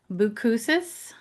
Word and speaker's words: Boucousis: I am so excited today to welcome Christian Boo Boukuses. Did I pronounce that right?